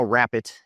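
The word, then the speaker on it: Rappit: And if you don't know Rapid, it's spelled R-A-P-P-I-T.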